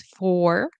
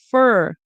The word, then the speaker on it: for: So this here depending on where it is we might pronounce it as four like the number 1 2 3 4 right but usually when it's in the middle of a sentence we will pronounce it as okay I'm going to try to write this all as like one word just so that doesn't erase fer fur. Okay, rhymes with her, like his and her. Fur rhymed with her.